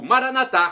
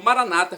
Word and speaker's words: Maranata: eu clamo do aramaico Maranata como dizemos nós católicos ou Maranata como dizem nossos irmãos separados os evangélicos ou protestantes não importa a pronúncia significado é o mesmo